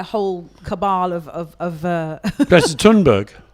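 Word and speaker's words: Thunberg: cabal of of uh tunberg or Sunbury is apparently the way you pronounce it in Swedish yeah uh being mauled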